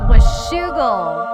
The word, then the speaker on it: Washougal: It's Washougal.